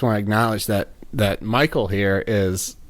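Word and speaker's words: Mychal: hi hi I'm Michael it's actually Michael how do you spell that you have an unusual spelling for your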